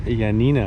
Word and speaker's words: Ioannina: welcome to yo and Nina or a Yanina as it's sometimes pronounced is a the largest